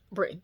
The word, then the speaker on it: Britton: And I'm gonna say, Britton, I said it right this time.